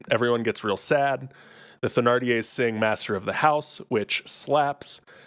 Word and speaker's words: Thénardier: I've always pronounced it with the H silent, like Thénardier, but I've heard it both.